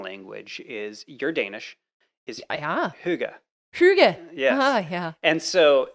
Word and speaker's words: hygge: It's spelled H-Y with a little... No, just H-Y-G-G-E. Okay. So that's how it's spelled. And so you hear it called hygge, hear it called lots of different things. Yeah, hygge. Yeah, hygge is probably the closest.